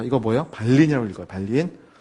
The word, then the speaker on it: 발린: 발린이라고 읽어요. 발린.